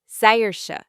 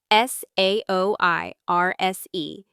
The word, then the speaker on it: Saoirse: Saoirse, I repeated spelling it out in my head. S A O I R S E. It's Irish. It means freedom. Saoirse.